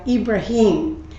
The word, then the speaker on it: Ibrahim: Of course, for our Muslim friends, his name is pronounced in Arabic Ibrahim, but it's the same person.